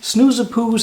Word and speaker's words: Snoezepoes: called snoozepoose and uh for those who do not understand dutch or don't know how to pronounce it here it is explained particularly for those pronounced snoozapoos and it is an